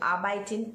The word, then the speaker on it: arbeiten: Now see, in German you have words like arbeiten, so arbeiten, EI. In German, EI is pronounced as I and IE is pronounced as E.